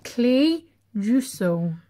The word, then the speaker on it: Clejuso: to read that sclerosis that does not say cleo so that does not say clear so see you so that does not that says clay jusso well the german and the germans pronounce it